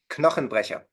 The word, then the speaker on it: Knochenbrecher: of Drunken Master with Jackie Chan is Die Knochenbrecher. What is it in German? Uh, Drunken Master. Die Knochenbrecher. Die Knochenbrecher. Knochenbrecher. Yes. Bone Breaker. How do you Yes. say that? Knochenbrecher.